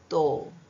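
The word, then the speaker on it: though: ಒಂದು ಬೇರೊಂದು ಪ್ರೊನೌನ್ಸಿಯೇಷನ್ ಉಚ್ಚಾರಣ ಓ ಯುಜಿಎ ಗೆ ಓ ಉಚ್ಚಾರಣ ಬರುತ್ತದೆ ಅದರಲ್ಲಿ ಟಿಎಚ್ ಓ ಯು ಜಿಎಚ್ ತೋ ಟಿ ಎಚ್ ಒರ್ ಯು ಜಿಎಚ್ ತಾರೋ next ಬೇರೆ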